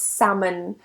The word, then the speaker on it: salmon: the next one is salmon now typically we don't pronounce the L before the vowels a